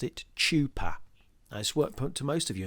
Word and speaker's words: chuppah: Not as many of you would have pronounced it, chuppah.